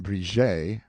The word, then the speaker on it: Bridget: Patrick Oreille, pronounced O'Relay, Miss Bridget, pronounced Briget O'Relay, Mrs.